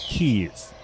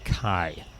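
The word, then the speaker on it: Caye: about an hour out what they call the keys they spell it C A ye but it's pronounced key I I was calling it Kai until we got to B and I finally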